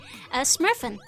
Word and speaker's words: Smurfen: Smurfen. The Smurfen. If you add N to the end of the word in Dutch, it usually makes things plural.